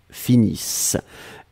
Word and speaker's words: finissent: nous finissons vous finissez ils elles finissent iss ent mais on ne les prononce pas donc le nt comme